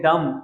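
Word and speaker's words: dumb: इसको हम बोलते हैं डम, ये डम ब नहीं होता, अपने माइंड में रख लेंगे, ये डम ब नहीं होता, डम डम।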